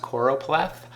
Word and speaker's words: choropleth: is a choropleth map that's pronounced choropleth and a choropleth map